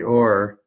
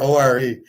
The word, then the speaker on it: Orr: But it's ORR. Only you could pronounce Bobby Orr, ORE.